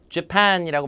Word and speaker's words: Japan: 자, 강세가 재팬이 아니라 뒤에 강세니까 Japan이라고 말씀드렸죠.